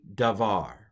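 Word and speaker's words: דָּבָר: the doggish in it it's it's pronounced like a V and we have what's that letter again it's a Pak so we have darar uh V davar all right which means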